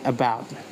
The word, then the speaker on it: about: The first syllable a is weak. It use a reduced kawa sound a that is it that is upside down. The second syllables is bout is strong. It has a full vowel of this this symbol. And in terms of stress, the strong syllables is bout is also a stress one.